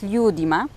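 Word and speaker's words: ljudima: Natomiast jeżeli już odmieniamy ten wyraz i chcemy powiedzieć z ludźmi, z ludima, no to już ten akcent będzie nadal na pierwszej sylabie, ale no formalnie rzecz biorąc na trzeciej od końca.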